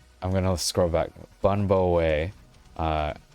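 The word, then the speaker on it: bún bò Huế: so let's see um Twinkie uh way is pronounced like bun bow way okay cool cool um yeah today I learned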